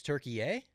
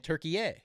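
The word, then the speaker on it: Türkiye: Can I just side note, what's going on with the pronunciation of Turkey since the World Cup? It's Turkey A. Is that is that always been a thing?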